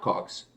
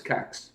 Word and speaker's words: kaks: Like, listen, we listened to Taro last Saturday, and he said Cox, which I thought it was Cox, but people told me it was not Cox, it was Cax, which means two.